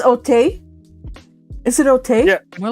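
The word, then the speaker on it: Auteuil: Because Otay. French. Otay. Yeah. Otay. It's AU, which makes the sound O.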